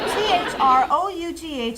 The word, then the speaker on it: through: T-H-R-O-U-G-H is pronounced through.